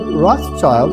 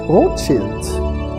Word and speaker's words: Rothschild: Now, this word Rothschild is, of course, a total mispronunciation. It's a German word, and it means Rothschild.